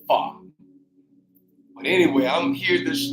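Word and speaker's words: pho: mindset of this folk it's really called fa p h o but it pronounce it far but anyway I'm here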